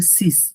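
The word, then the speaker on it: six: এটা কিন্তু সিস, নাম হচ্ছে এটা সিস, আর সেইজ হচ্ছে 16। সিস হচ্ছে উচ্চারণটা আর কি।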